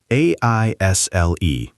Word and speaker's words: aisle: Next, aisle. A I S L E The word looks strange, but it's pronounced aisle.